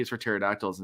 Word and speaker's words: pterodactyl: the children's book and it's it's each letter but with a word that does not start with the same sound. It starts with a silent letter.